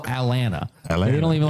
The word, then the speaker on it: Atlanta: and they call it Atlanta. They don't even like they don't even pronounce the T, you know, trying to get there for the Allar game.